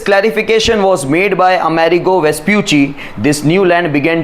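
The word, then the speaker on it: Vespucci: उसका प्रोनाउंसिएशन वेस्प्यूची है, वेस्प्यूसी नहीं है, वेस्प्यूची, ची बोलना है आपको।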